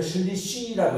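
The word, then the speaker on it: שלישי: 그런데 세 번째 할 때는 슐리시라고 이렇게 발음해요.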